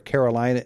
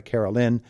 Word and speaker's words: Caroline: See, Caroline, I was so concentrated on making sure you were a Caroline and not a Carolyn that I mispronounced Susie.